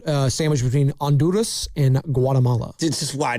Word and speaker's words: Honduras: It's it's underneath that and it's right sandwiched between Anduras and Guatemala. This is why do you guys Honduras? You don't pronounce the H in Spanish.